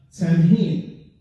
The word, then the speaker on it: Samhain: Now, when we write, it's written like Samhain, but when we pronounce, it's like Simon, जैसे सावन होता है उस तरह की इसकी आवाज होती है जब से pronounce करते हैं.